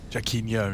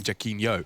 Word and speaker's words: Jacquinho: Jacquinho, that's right, because he's a fan of Ronaldinho.